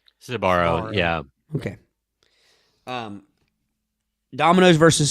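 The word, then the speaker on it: Sbarro: pizza battle dominoes versus now make sure i'm pronouncing this correctly is it sabaro sabaro yeah okay um domino's versus sabara sabaro was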